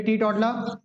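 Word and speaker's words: teetotaller: रही बात इतनी फिर टी टोटला मैंने आपको बताया था कि लास्ट में आर को प्रोनाउंस करते नहीं है टी टी टोटल पढ़ते हैं इसको ठीक क्या होता है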